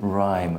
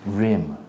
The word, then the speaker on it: rhyme: Why is it rhyme and not rim? Okay, look, you have the... This is like a vowel, no? You have this, and here you have a consonant, then you have E. So it's going to be long, rhyme.